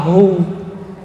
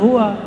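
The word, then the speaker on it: هو: Hu bacanya hu jangan hua kecuali disambung.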